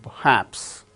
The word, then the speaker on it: perhaps: R is not uttered because it is followed by h in the word perhaps.